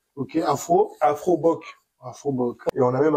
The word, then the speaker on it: Afrobock: c'est Afroboc. Ok, Afroboc. Afroboc. Et on a même un site internet, en fait. Ça s'écrit AFROBOCK.